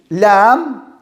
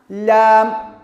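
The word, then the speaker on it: لام: Don't forget, Lam is always light in Arabic language. Lam, Lam.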